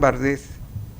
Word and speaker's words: Barthes: Dice Roland Barthes, esa es la pronunciación correcta, no es Barthes. Se escribe Barthes, pero se pronuncia Roland Barthes.